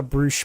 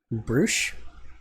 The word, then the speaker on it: brioche: The Brioche bun, is not. So, Pronounced like that. Bruche? I will fight you, LOL. Sorry, brioche.